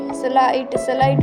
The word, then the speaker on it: sleight: SLEIGHT स्लाइड में आई के बाद में GHT है तो आई का उच्चारण आई से किया जाता है।